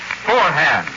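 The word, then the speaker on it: Forhan's: stores it's spelled f o r a it's pronounced forehand and friends don't forget take an old you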